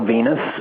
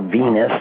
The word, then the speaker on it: Venis: some cocky gimmicks before but maybe the valve venus thing might have been a little bit more